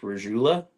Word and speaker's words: Regula: So I heard from someone today, it's apparently pronounced Regula. Regula. It's Regula.